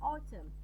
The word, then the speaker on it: autumn: Okay, so how do we pronounce the words autumn? Okay, in correct pronunciation, as in autumn, with the silent N.